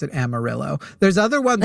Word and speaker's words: Amarillo: Amario, right? The color yellow, but it is they will correct you. If you say Amaro, they will correct you and say in Texas we pronounce it Amarillo.